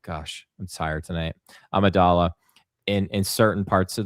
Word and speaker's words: Amidala: wore the the Queen Amidala I keep saying it wrong gosh I'm tired tonight Amidala in in certain parts of the movie but like this is 100% Natalie Portman.